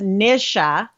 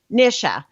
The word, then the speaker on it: Nisha: hello welcome it is the mr show the nisha show by the way you know what